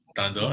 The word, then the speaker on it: Thando: Thando, I said it right this time.